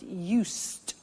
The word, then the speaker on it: used: listen to the pronunciation I said used with T sound use not use it